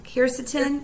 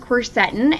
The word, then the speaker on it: quercetin: me but um yeah so it's actually pronounced quercetin and if for anyone